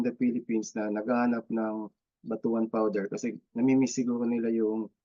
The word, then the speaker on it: batuan: yung ah batuan Batu Actually batuan talaga ang pagpronounce niya batuan So ini-introduce na nila